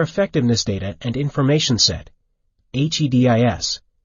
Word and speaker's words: HEDIS: care and healthcare effectiveness data and information set HED is pronounced HEDIS there are also organizations devoted to obtaining